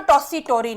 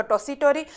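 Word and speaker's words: Tessitori: ये ध्यान में रखिएगा, जब इंग्लिश में लिखा जाता है तो ये ट को वहां पे त भी प्रोनाउंसिएशन किया जाता है, तो आप घबराइएगा मत। टॉसी टोरी बोले या टॉसी टोरी बोले, बात एक ही है।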